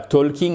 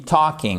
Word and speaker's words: talking: Évidemment, on ne prononce pas le L, on ne dit pas talking, on dit talking.